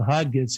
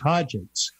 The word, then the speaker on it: Hodgetts: I've been pronouncing it as it's spelled, Hodgetts, and now you tell me it's Hodgetts.